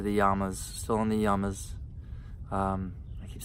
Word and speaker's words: yamas: yamas, still in the yamas. I keep saying it wrong. It's not yamas. Yamas. Yama, yama, yama, yama, yama. It's actually yamas. Short A.